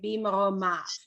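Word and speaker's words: במרומיו: But we don't pronounce the yud, which we've said, if the yud is preceded by a vowel, it takes on the vowel, right? So when it's an E or an A or an A, you don't pronounce the yud, it takes on that vowel, right?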